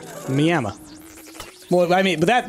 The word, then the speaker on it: Miami: it what they do they pronounce it with an A at the end clearly there's not an